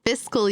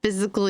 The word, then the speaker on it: fiscal: a colleague at work who pronounced fiscal year as physical year thr me absolutely Bonkers